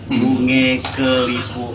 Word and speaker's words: bunge kelipuk: Di sini yang betul ejaannya itu adalah bunge. Itu dia namanya. Bunge. Bunge kelipuk. Bunge kelipuk.